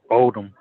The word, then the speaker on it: Oldham: I pronounce it as it's pronounced in the dictionary. Silent H.